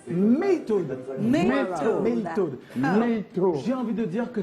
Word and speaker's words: MEIITOD: On reçoit Maytoad. C'est comme ça que ça se prononce. Maytoad.